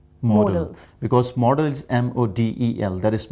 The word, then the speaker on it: modals: auxiliary verbs and modals people often pronounce this word as model that is wrong it should be more else because models m-o-d-e-l that